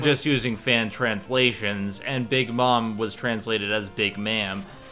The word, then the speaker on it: Big Mom: He also was really harsh on me for saying Big Ma'am instead of Big Mom. I'm like, back in the day, before we knew the official pronunciation, everyone called her Big Ma'am among my friends.